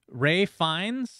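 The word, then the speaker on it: Ralph Fiennes: Ray Fiennes, I believe, is how he likes to pronounce his name.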